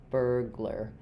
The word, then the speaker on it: burglar: So I would think of it as burr. First syllable stress, second syllable unstressed. Same sound. This one is a little bit longer in duration. This one's a little bit shorter.